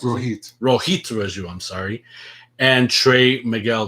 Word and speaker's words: Rohit Raju: Petey Williams was involved, the current champion Josh Alexander, Chris Bay, Rohin Raju. Is that how you pronounce it? Rohit Raju, I'm sorry.